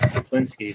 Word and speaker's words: Chaplinsky: Welcome to the program, Chaplinsky. I said it right, correct? That is correct, Chaplinsky.